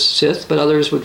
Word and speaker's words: Scyth: Webster's Dictionary says we're supposed to pronounce this Sith, but others would pronounce this Scot.